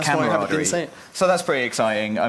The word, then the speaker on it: camaraderie: that term a lot camaraderie yeah I can't even say it I say it wrong I say camaraderie well you're saying it wrong it's camarad so that's pretty exciting